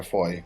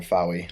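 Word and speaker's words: Fowey: A small boy found a large cat skull lying on the banks of the River Foy, which I always pronounce the River Fowy, like an idiot, in the late 1990s.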